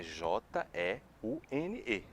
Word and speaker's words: jeune: Mas a pronúncia é praticamente a mesma coisa.